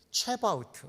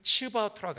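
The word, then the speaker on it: צבאות: 만군의는 체바우트, 만군이라는 단어는 체바우트 또는 치바우트라고 합니다. 한번 따라해 볼까요?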